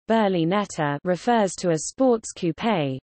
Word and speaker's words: berlinetta: The term Berlinetta from Italian, Berlinetta, Italian pronunciation, Berlinetta refers to a sports coupe, typically with two seats but also including 2+2 cars.